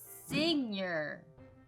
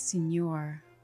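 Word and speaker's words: seigneur: oh no you good senior senior how many chances do i get until you say final answer senior final answer it's senor i i feel like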